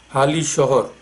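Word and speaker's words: Halisahar: In Bengali you pronounce it Hali Shahar.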